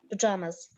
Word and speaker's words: pajamas: J-A-M-A, but we pronounce it as pajamas.